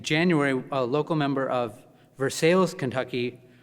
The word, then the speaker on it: Versailles: You know, here in Boston, they're repairing churches, but in January, a local member of Versailles, Kentucky, which is not pronounced Versailles, but spelled the same way, reported that the city